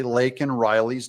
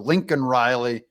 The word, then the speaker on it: Laken Riley: flub, which is that he did not say Laken Riley's name correctly. He called her Lincoln Riley, couldn't even say it.